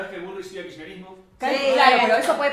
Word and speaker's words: kirchnerismo: Sí, cada vez que Burrich diga, de una forma no bien pronunciada, kirchnerismo, bueno, diga kerechnerismo, kernerismo, korochnerismo, kirchnerisme, cualquiera de esas, ustedes meten un mate 750, tranquis, un mate 750.